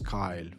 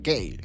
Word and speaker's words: Kyle: him on for Dune Aurelio de Laentes could couldn't pronounce Kyle for whatever reason but he couldn't pronounce Kyle and it was saying Gail Gail and so David Lynch picked that up and that became his ping.